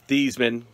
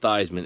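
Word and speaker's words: Theismann: to the the the thiesman because it's not theisman it's thiesman diedman reminds what heisman i don't know my mumbled saying that but the heisman rhymes with a heisman and it's stevesmen uh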